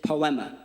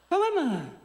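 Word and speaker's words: ποίημα: But the actual Greek word being used here is poma. Let me hear you say, "Pema." Say it like you're not depressed. Poama.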